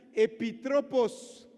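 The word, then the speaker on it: ἐπίτροπος: También hay otra palabra en griego para describir mayordomo y se escribe y se escucha epitrópos.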